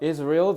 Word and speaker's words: Israel: 어린이 집의 스토리를 알려주는데 Israel 너네 이스라엘이라고 하잖아. 자, 이스라엘이라고 안 하고요. 특히 미국 발음으로 is real이라고 발음합니다. 그래서 is real that decided to find 자, find을 동사로 썼네.